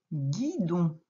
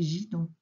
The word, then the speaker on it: guidon: Pour faire la syllabe gui, tu es obligé de mettre le U qui est muet, qui aide à faire g. Hein? Sinon, ça ferait gidon.